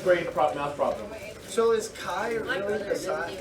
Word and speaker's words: chi: It's not pronounced chai. It's chi.